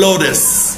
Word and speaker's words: lotus: لما يكون التي قبلها فاول وبعدها فاول منطقه شبه الدي او الار فنقول لوتس.